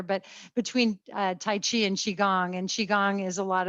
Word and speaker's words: qigong: Yep, Qigong.